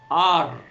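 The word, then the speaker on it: har: Primero es H-A-R, ar, pronunciado ar en español.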